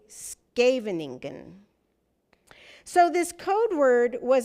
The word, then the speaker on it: Scheveningen: Germans pronounce it like Scheveningen, but Dutch speakers say Scheveningen.